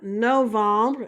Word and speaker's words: novembre: Novembre is November. And that's pronounced like no. Vom. Bruh.